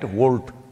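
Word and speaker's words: Wolt: Volt. I'm seeing the Volt bags everywhere on the motorcycles. It's spelled wrong though. It's W-O-L-T, they spelled it like that.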